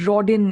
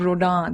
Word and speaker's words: Rodin: you know you know you said Rodin instead of Roda then you know oh